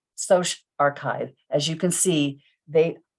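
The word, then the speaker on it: SocArXiv: the other three and you pronounce them as bio archive psych archive social archive as you can see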